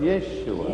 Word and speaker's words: Yeshua: Not Yeshua, but Yeshua. Не Иисус, а But that has Иешуа. dropped out. Но это And пропало. all we in European languages have it without the sh sound.